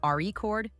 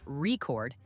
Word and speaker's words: record: your speech for example in the word record if you stress the first part reord it's a noun but if you stress the second part record it's a verb practicing these little details